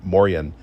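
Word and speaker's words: Moien: us that uh that to say hello in Luxembourg, you say Morian.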